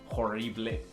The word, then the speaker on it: horrible: Es decir, la H no existe. Y después decimos ELE, significa ble. O sea, decimos horrible. Cambia completamente. Tal vez tú dijiste horrible, pero nosotros decimos horrible.